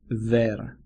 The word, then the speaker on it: ver: Bear sounds a little bit like ver, V-E-R.